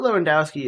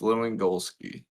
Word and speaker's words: Lewandowski: I mean, dude is literally Robert Lewandowski is sitting on 39 goals. You said his name wrong. It's Lewandowski.